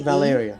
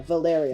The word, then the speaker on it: Valeria: L-E- Valeria. L-E- yeah, Valeria. Valeria. I think you have to do it in two. It's a 2-syllable. It's a 4-syllable.